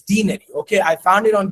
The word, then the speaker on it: denary: it that way that day that the proper pronunciation for it's for this word it's not deny it's denary.